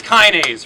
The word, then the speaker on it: Kinaze: Oh wait, sorry, it's Kinaze, right? Rhymes with, I've only been doing this for like 5 days.